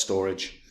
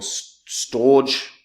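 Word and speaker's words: Storj: uh in in centralized storage uh as an example storge I I always call it storge but I know it's they say it's meant to be pronounced storage uh hit new like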